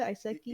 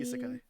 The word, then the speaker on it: isekai: Yeah, How do you pronounce it? Iseki. isekai. It's isekai.